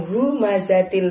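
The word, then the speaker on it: همزة: lalu adalah fat humazatil pengucapan humazatil Who pada humazatil itu gunakanlah tenggorokan bagian dalam Hunya yang tebal ya nak humazatillumazah jadi misteri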